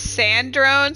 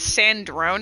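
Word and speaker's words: Sandrone: Yeah, I always pronounced it as Sand Drone. So when I heard it's Sandron, I was like, "Oh shit."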